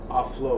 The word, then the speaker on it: aulos: There was just literally no human endeavor in ancient Greece that could not be accompanied with the Aulos, or as modern Greeks pronounce it, Aulos.